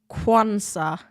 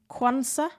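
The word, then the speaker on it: Quansah: that mean canate is injured bunny says it's pronounced quansa quansa anyway sounds like he's starting for Liverpool today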